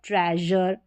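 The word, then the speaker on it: treasure: तो यहाँ पर सभी स्पेलिंग्स में SURE है और सभी में जर करके प्रोनाउंस किया है। जैसे देखिए मेजर, फिर है प्लेजर, ये है ट्रेजर, और क्लोजर, क्लोजर जर करके साउंड आ रहा है किसका?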